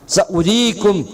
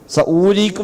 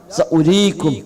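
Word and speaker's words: سَأُرِيكُمْ: സഉരീകും ആയാതി, സഉരീകും അവിടെ വാവിന് ഉച്ചാരണം ഉണ്ടാവില്ല, സഊരീക്കും എന്നല്ല സഉരീക്കും, ആ വാവിനവിടെ ഉച്ചാരണമില്ല.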